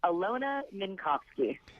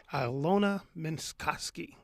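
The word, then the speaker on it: Alyona Minkovski: It's Alyona Minkowski. Alyona Minkowski.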